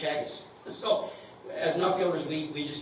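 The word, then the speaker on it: Teagasc: Like Ireland, their their um their their agriculture organization is spelled T E A G A S C, but it's pronounced Chagis.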